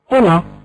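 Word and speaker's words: hola: هو خوان قالت له هولا بوينوس دياس هولا بوينوس دياس قلنا في بداية الدرس بأن اتشي لا تنطق في اللغة الإسبانية اتشي لا تنطق في اللغة الإسبانية اتش اش لا تنطق لا شيء نو سي برونونسيا ان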